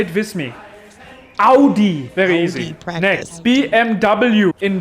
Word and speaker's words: Audi: the first honker name so many people say od when it's actually pronounced audi say it with me audi very easy next bmw in german you say